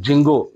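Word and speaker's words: Django: Python की तो उसमें जिंगो जिंगो के नाम से एक फ्रेमवर्क आता है और उसमें डी साइलेंट होता है इसको जिंगो कहते हैं तो ये पाइथन का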